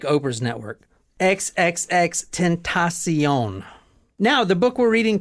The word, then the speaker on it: XXXTentacion: see you SE e on like Oprah's network XXX tentasion now the book we're reading tonight is from